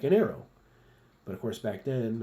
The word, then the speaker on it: Arreaux: it's Sleek like an arrow but of course back then I didn't know how it was pronounced you got to think kind of French AO and not a rocks as I used to